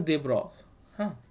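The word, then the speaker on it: de Broglie: so then another scientist by the name of De Broly okay so it is pronounced as de bro huh it's not de de BR so he came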